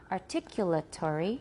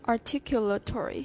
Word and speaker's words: articulatory: Articula, that's a l, not la. Articulatory.